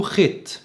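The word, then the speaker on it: חית: اليهود الاشكنازي اللي هم اليهود الاوروبيين الغربيين ما بيعرفوش يقولوا الحاء، بالنسبة لهم صعب، فبيقولوه خيت خيت.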